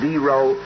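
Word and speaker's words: Dero: But we have to remember that there isn't only D-Row, there's also T-Row supposedly living in these caverns.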